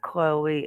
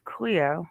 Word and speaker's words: Cleo: wrong tonight we know her name is not chloe it's cleo even though some people call her chloe i made a mistake